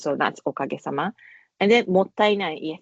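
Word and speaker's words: もったいない: And then mottainai, yes, it is pronounced as mottainai, which is often translated as what a waste in English, but it has much more, much deeper meaning there.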